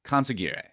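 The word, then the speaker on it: consigliere: of State like no I think it's conary conary maybe I'll drop in the edit on this n close enough in The Godfather films it's pronounced coner Tom Hagen is not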